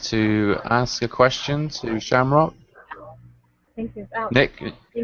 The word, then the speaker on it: Seamróg: It is spelt differently than you think. It is in another language, I believe. I forget which language. It might be Irish or Celt. Or Gaelic.